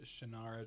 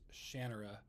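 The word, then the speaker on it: Shannara: in the original uh shinara Trilogy which apparently on the audio books it's pronounced shanara and I just think like malison just sounds better than the actual way you're supposed to say it shanara just I don't know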